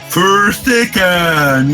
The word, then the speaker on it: Fyrstikken: Fyrstikken. Fyrstikken, yes, that's right. You can say it like that.